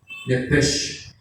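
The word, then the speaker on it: נֶפֶשׁ: sapo, H de huevo, Nepech, que se pronuncia en el original hebreo Nepech, porque la SH o CH en el hebreo se pronuncia como con J, Nepech, ¿sí?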